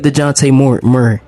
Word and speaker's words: Dejounte Murray: Don't try to look at DeJounte Murray.